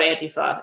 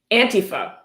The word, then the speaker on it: Antifa: Antifa pronounced Antifa. He spells it out, so you're sure to pronounce it Antifa. Not Antifa, Antifa. Just want to be sure, be clear.